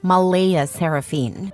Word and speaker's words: Mleighaseraphyne: Claire insists it's pronounced Malaya Seraphine, but she's adamant about keeping the creative spelling because normal names are boring and my daughter deserves to stand out.